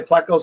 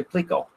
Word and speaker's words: pleco: Some people say pleco, some people say plico.